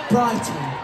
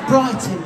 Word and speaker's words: Brighton: Brighton. Yeah. It's Brighton. Can you right Can you say it without pronouncing the T so prominently?